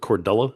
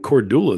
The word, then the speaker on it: Kordula: Yeah, It's you said what was it, Cordella is how people were yeah, pronouncing a it.